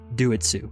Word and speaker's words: Doitsu: wrong if we consider do it sue it's do it si yes do it sue got you I'm just